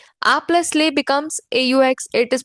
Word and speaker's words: aux: A plus le becomes AUX. It is pronounced as O.